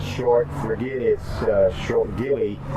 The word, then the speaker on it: Gilly: short forget it sure Gilly short for Gilbert and it rhymes with chili so that's kind of